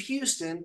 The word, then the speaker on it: Houston: and the drummer was, is it Houston? Steve Houston? Is that how he pronounced it? Steve Houston. Yes. Okay. Steve Houston.